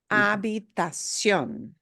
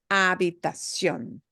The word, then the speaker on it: habitación: And the other pitfall here may be, again, that there is no shun. Sion. Sion. Okay? Sion. Habitación. Habitación.